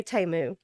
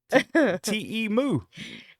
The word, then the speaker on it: Temu: Oh, I'm still on Temu. You're still in Temu. Uh, How do y'all say Temu?